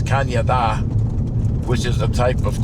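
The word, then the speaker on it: cañón: And the Canadian River has nothing to do with Canada, but um in Spanish, CAN with an accent over the N is pronounced like a Y. So it's Kanye, which is a type of can cannon.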